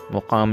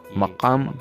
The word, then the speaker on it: مقام: جو کہ غلط ہے، مقام نہیں ہے، اس کا صحیح تلفظ میم کے اوپر زبر کے ساتھ ہے، یہ مقام پڑھا جاتا ہے، مقام لکھا جاتا ہے۔